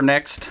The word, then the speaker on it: NZXT: first one to come from NZXT or next a lot of people like to call their name pronounce the name this is the Havoc